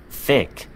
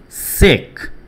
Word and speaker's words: thick: 그러니까 발음을 할때 th 발음이 있을 때는 혀를요 윗니빨에 붙인 상태에서 thick, thick 이렇게 해줘야 돼. 그런데 만약에 그렇게 안 하고 그냥 sick, sick 만약에 이렇게 한다고 치면은 그거는 아픈이 되는 거예요.